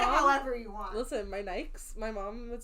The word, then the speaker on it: Nike: Listen, my Nikes.